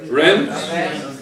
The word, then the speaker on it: Rennes: Rennes? Rennes? They're done. Okay, I don't want to go into the pronunciation because I'm going to...